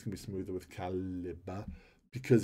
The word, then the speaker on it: Calibre: Calibre.